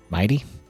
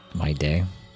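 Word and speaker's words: Mydei: Mighty? My day. I don't like that they pronounce it mighty and Mydemos. It should be my day and my Deimos.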